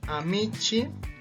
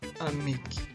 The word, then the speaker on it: amici: En realidad, por esta regla de la C más una vocal, va a cambiar su pronunciación y se va a pronunciar amici o amiki. Cualquiera de las dos formas es correcto.